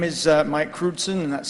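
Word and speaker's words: Crewdson: forward uh yeah my name is uh Mike kudon and that's spelled c r e w DS o n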